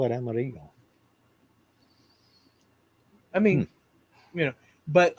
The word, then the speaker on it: Amarillo: the Rainman in 1989 Amarillo should actually be pronounced Amaro we pronounced it armadillo well yeah um root 66 it's in that song it's awesome um the way he names all the but the actual name is amaru yeah the double L's I know that yeah